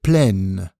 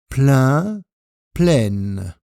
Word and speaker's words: pleine: L'adjectif plein prend un E au féminin, une bouteille pleine, et donc il modifie sa prononciation. Pleine. Plein, pleine.